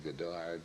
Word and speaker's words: Goddard: Since Goddard was an American, it would be pronounced Goddard, wouldn't it?